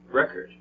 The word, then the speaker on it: record: just felt the same they both have two syllables but they're two different sounds why it's because of words dress okay so in remember this trestle is a little bit louder and longer than the unstressed syllable so let's look at a record okay which syllable is a bit louder and longer a record record if you have trouble